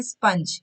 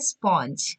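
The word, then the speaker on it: sponge: 31, सबको पता होगा ये क्या है, लेकिन इसको बोलते गलत है, इसको बोल देते हैं स्पंज, जबकि इसकी जो करेक्ट प्रोनाउंसिएशन है वो क्या है? स्पॉन्ज।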